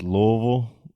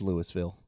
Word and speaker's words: Louisville: Our big one is always Louisville or Louisville or Louisville. It's Louisville. Easy. Louisville. That's easy. It's Louisville. Louisville. If you're from Louisville, you say Louisville.